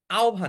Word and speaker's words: আহ্বান: যেমন একটা উচ্চারণ আছে আহভান। আহবান একটা উচ্চারণ আছে। উচ্চারণটা হচ্ছে আহ্বান।